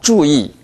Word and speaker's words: 注意: 주의. 주의. 주의. 주의. 주의. 주의. 이때는 이 발음이 주보다 약합니다. 주의. 주의. 네, 주의 하지 마십시오. Y 발음을 살리십시오. 주의. 주의. 주의.